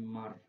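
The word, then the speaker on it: mār: Kemudian yang kedua ini secara tulisan adalah Mal, tapi ketika dibaca menjadi Mar. Ya, ini memang huruf seperti ini ya sering sekali bacanya R gitu ya.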